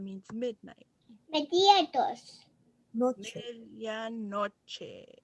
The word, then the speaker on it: medianoche: Medianoche.